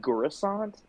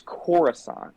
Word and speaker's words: Coruscant: He pronounces it like Coruscant, like with a hard G for some reason.